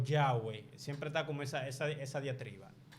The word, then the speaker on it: Yahweh: a la YHWH y por eso se escribe Yahweh, Yahvé. Y no es W.